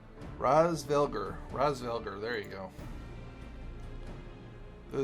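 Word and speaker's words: Hraesvelgr: I think that's how it Raz, because I know the H is silent. I remember that, so it'd be Razvelger.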